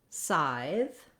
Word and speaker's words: scythe: So the word scythe has only one syllable, and the letter Y says the I diphthong.